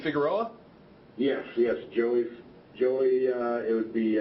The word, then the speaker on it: Figueroa: And the other guy is Joey, is it, you pronounce his last name Figueroa?